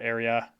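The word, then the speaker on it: Aira: charging air I think it's pronounced air area that's a i r a conventional wireless chargers deliver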